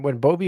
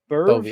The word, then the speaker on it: Boeve: So are you familiar with when Boeve was drafted in 2023 in the second round by Milwaukee?